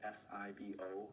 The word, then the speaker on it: SIBO: And then, of course, there's other gut issues like SIBO, S-I-B-O. Some people pronounce it SIBO, but small intestinal bacterial overgrowth, where there's bacteria where it shouldn't be in the tract.